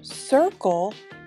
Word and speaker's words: circle: The second C in the word circle is a hard C. It sounds like a K.